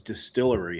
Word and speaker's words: DSTLRY: Now I'll tell you another publisher that I'm really impressed with is Distillery. Have you guys heard of them? No. DSTLRY. They spell it funky.